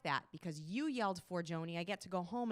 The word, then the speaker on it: Forgione: And I just want everybody to pronounce it correctly. The last name is Forgione. So I want everybody at home to just say, put their hands up and just say, Forgione, Forgione, Forgione.